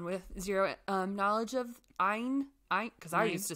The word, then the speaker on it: Ayn: it's just like okay ein it rhymes with mine and then rand just